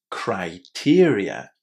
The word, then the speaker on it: criteria: the first syllable is pronounced, well, yeah, as an I, exactly in the same way as the letter I in the English alphabet.